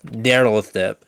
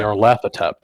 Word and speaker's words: Nyarlathotep: Jesus Christ, you pronounce this. Jesus Christ. Oh, Nyarlathotep. Yeah. Nyarlathotep.